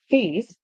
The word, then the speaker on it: face: And in the word face, always remember that the E at the end is silent.